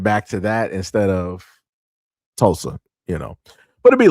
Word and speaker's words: Tulsa: section like, "Yo, S, this is actually how you pronounce, you know, uh uh what was it? Tulusa." Um Tulsa. Yeah, that's what it was. It was Tulsa, but I said I think I said Tuloosa.